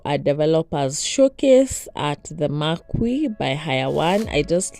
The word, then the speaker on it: Marquis: been invited for a developers showcase at the Marque by High one I just learned that the correct pronunciation is the Marque or the Maris yeah and I arrived at 430 though the